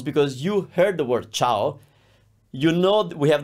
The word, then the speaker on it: ciao: those and think about CIA is one sound cha it's not Chia it's cha that's ciao shurma is the crew